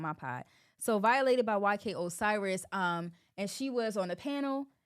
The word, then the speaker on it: Osiris: um so basically she was violated by YK Cyrus is that how you say his name bro Osiris YK Osiris I feel like I talked about him before on my pod so violated by YK Osiris um and she was on the panel and